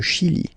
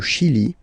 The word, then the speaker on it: Chili: Le Chili. La Bolivie. Okay, final not pronounced.